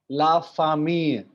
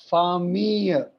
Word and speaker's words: famille: So we pronounce it la famille. So famille हल्का सा एक यॉ का साउंड आता है लास्ट में.